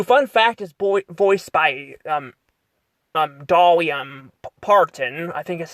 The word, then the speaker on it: Dolly Parton: We get to see her, cousin in here, who, fun fact, is voiced by, Dolly, Parton. I think is how you pronounce her name, Dolly Parton, which, by the way, is still alive to this day.